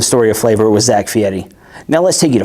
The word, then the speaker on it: Fieri: Guy, is it Fieri? Fieri? Ferrari? Fiery? It's actually pronounced Guy Fieri, as ERI in Italian is pronounced like the word Eddie.